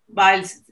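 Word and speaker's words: Biles: los grandes grandes patrocinios simón bailes o sea viles se escribe vice hoc se dice no y ella cuando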